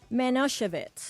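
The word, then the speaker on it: Manischewitz: it yesterday ly said manosevitz manich yes I said I didn't realize that the emphasis would be on the Chev so you want to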